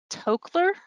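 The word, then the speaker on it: Toklas: a woman named alice alice b tokler i believe is how you say her last name she was also an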